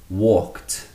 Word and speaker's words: walked: Walk conjugated becomes walked. Walked. T. It still has that t sound, not an ed sound.